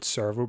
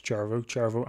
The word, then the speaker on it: Cervo: I think I pronounce it Cervo, but apparently it's Cervo and Berta.